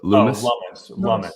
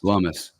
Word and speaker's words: Lummis: Who's the Loomis? Lummis. Yeah. See, this is how ignorant I am on politics. I can barely pronounce these people's names, and I'm hanging out